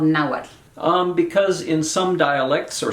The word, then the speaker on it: Nahuatl: That HU is just a W, so think of it as Nahuatl.